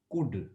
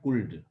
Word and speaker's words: could: Pronounce करते हैं कुड, नॉट कुल्ड।